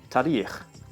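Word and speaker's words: تاریخ: The Persian word is tarikh. So just the first A vowel seems shorter.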